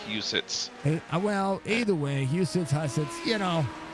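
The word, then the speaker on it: Huset's: that I was told how the track is pronounced. It's called Husids. Well, either way, Husids Hussets, you know, there's no it's not two sides, but it's Husids.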